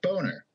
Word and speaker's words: Boehner: Now, John Boehner has German ancestry, or at least I assume it's German, and his name is spelled Boehner, much like boner without the H.